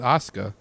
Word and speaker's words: Asuka: Yeah, Asuka. Is that how you pronounce that?